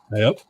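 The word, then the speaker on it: ayup: you um in Maine they say yep and it's spelled a-y-u-p and it's just this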